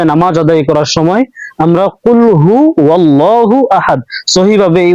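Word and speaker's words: قل هو الله أحد: ধরছে তো কুলহু ওয়াল্লাহু আহাদ আর আমরা সবাই কুলফু আল্লাহু আহাদ পড়ি তো আমাদের সবসময় এই জিনিসটা মাথায় রাখা উচিত যে আমরা যখন নামাজ আদায় করব সহি ভাবে নামাজ আদায় করার সময় আমরা কুলহু আল্লাহু আহাদ সহি ভাবে এই উচ্চারণটা আমরা আদায় করার চেষ্টা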